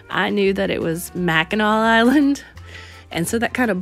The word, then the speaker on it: Mackinac Island: knew that it was Mackinac Island and so that kind of bothered me every time she said mechanic you know cuz that's how it looks but that's not how they actually pronounce it in about the third